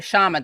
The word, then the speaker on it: Kshama: want to oh sorry shaman the k is silent shama i wanna is it no problem it's not actually silent but i but you know what even indians find it hard to say it so there you go